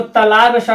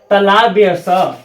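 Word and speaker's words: तालव्य स: इसका शुद्ध उच्चारण होगा तालाब्य स।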